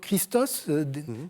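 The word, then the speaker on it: Χριστός: Christos le Christ et Christos qui se prononce à l'époque Christos comme en grec moderne hein donc qui signifie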